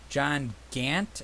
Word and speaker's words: Gant: John Gant, or how am I pronouncing that right?